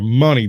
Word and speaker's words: Mooney: is Mooney told probably pronounces it money my name is money blood you know it